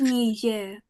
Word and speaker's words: Niger: It's Oh, actually pronounced Niger.